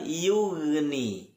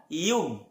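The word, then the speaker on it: يُغْنِي: Wa ma yughni. Kembali lagi kita bertemu dengan huruf ghain yang sukun, bukan yug. Apalagi kalau sampai ghainnya memantul, jangan sampai. Karena ghain tadi kita bahas bukan huruf yang memantul.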